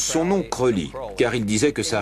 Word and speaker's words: Crowley: nourrit ses rêves de grandeur il voulait qu'on prononce son nom creully car il disait que ça rimait avec pauline